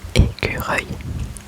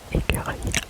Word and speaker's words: écureuil: écureuil écureuil écureuil écureuil écureuil écureuil écureuil écureuil Écureil écureuil écureuil écureuil écureuil écureuil écureuil écureuil écureuil écureuil écureuil et écureuil ça c'estécrit donc c'est le même son que œil œil écureuil ça s'écrit e